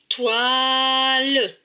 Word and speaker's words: toile: T avec OI. OI, c'est WA. Donc T et WA, TOI. L et E, LE. Donc ce mot se prononce, TOILE.